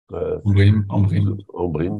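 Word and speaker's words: Ambrym: ou d'Embrim, je ne sais pas comment on prononce. Embrim, voilà, merci.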